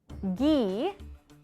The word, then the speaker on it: ghee: pronunciation by the way gee right which is a hard g not to be confused